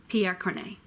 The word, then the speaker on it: Pierre Corneille: Jean Racine Piaf corny P a girl named Pierre Corneille shot a pickle shot BAE hope sharp arrow